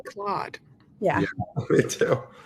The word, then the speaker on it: Claude: Um Anthropic, which is I've heard Claude or Cloud. I've heard people pronounce it both ways. Um, I say Claude. Yeah, me too. I think like the French name is Cloud.